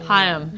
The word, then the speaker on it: Haim: It's Haim. That's Haim. How you pronounce two syllables. Haim. But I said one syllable. That was one. You're wrong. I'm wrong on my own last name? Hi-um. Hi-um. Hi-um.